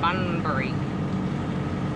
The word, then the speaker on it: Bunbury: What do you mean? It's Bunbury. We're going to Bunbury Farmers Market. Is that how you pronounce it? Yes.